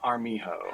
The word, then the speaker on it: Armijo: Armijo. How are you doing today? Good, but you pronounced my last name right, so good on you.